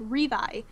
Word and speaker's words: Levi: So, in Japanese, the R and L sounds in that language, they don't have a distinction. So, if you were speaking Japanese, you would say his name like Levi, because that's how you would pronounce it.